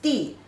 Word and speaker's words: 地: So when it has the proper meaning, the pronunciation is di. But when it is a structural word, it also is a light sound.